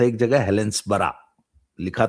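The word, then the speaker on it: Helensburgh: लिफेस्टर पढ़ते हैं लिस्टर जहां भी बी ई आर जी बर्ग लिखा हो वहां पढ़ो उसको बरा कल गया था एक जगह हेलेंस बरा लिखा था हेलेंसबर्ग पढ़ते हैं हेलेंस बरा एडनबरा तो वहां पे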